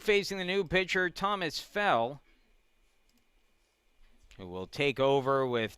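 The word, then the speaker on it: Gfell: first pitch outside from fell 0-1 fellow where's number 36 spells that last name g-f-e-l-l the g is silent a sophomore 5 10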